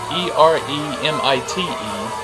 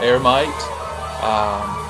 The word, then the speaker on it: Eremite: Anyway, this is a label, Eremite, E-R-E-M-I-T-E, Eremite Records, I believe, and I may be pronouncing it wrong. It could be ear, but I'm pronouncing it Eremite.